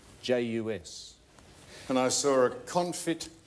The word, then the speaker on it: jus: well and and and how do you pronounce j us there's no s on the end of it I was going to